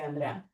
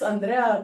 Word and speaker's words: Andrea: : They pronounce Andrea kind of similarly, except the R is a little different. Instead of a rolled, it's like a kind of J… Spanish J sound.